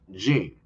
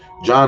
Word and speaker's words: Jean: sorry Botham uh uh Jean Botham John I think this I think John is how is from he's from St Luke John is supposed to be how you pronounce I think yeah Botham